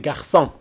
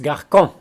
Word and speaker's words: garçons: l'être c'est par exemple garçons si on ne met pas le céder les deux et ils se prononcent carcan voilà une petite évaluation